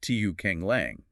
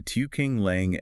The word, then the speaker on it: Tiu Keng Leng: It's still pronounced Tiu Keng Leng, but the characters were changed to mean adjusting scenery ridge. Right. So, they tried to write over the shat designation while keeping the sound.